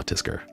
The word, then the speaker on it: TSKR: just be like, ah, Tisker. You know? Like when you type it out, it's TSKR, but when you pronounce it out loud, you just say Tisker, you know?